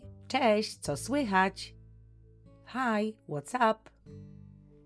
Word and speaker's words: cześć: For friends and family, we use the informal hi, which is cześć. Be careful with the pronunciation. It is a soft ch and a soft sh at the end.